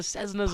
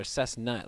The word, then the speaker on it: Cessna: It's Cessna. Okay. Or if you say it like my grandfather, Cessnut. Like, where the nut?